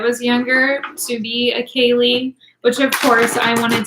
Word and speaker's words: Kaleigh: My name is Kaleigh, and it's spelled K-A-L-E-I-G-H, like the long way of Lee.